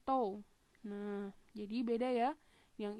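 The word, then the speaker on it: τ: Ini bacanya tau.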